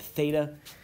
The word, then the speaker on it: theta: This is read theta. Alpha, beta, gamma, delta, etc. But theta is in there, and theta is pronounced with a TH.